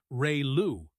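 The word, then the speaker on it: ReLU: Some of the most common ones include re lu pronounced ray lu sigmoid which squashes values between 0 and 1 and hyperbolic tangent or tench which outputs values between -1 and 1.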